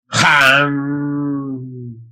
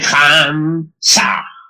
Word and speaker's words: Ham: Ham se escribe con las letras H-A-M. Saj se escribe con las letras S-A-H. La H suena siempre como J.